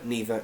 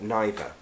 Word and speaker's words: neither: T it doesn't matter you can say it both ways the same with either either neither neither and now you know